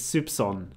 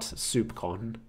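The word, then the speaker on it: soupçon: showed up earlier and I had to look up how to pronounce it it's supson not supcon there's a grave and I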